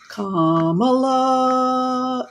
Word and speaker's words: Kamala: We had a pretty good idea there was going to be an auction for Kamala. It rhymes with Pamela.